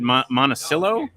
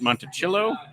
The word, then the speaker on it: Monticello: here's their song uh i always said monticillo they pronounced it on stage that night monticello well then i give